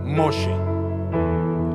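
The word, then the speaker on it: משה: ¿Cómo se dice Moisés en hebreo? Moshe. Correcto.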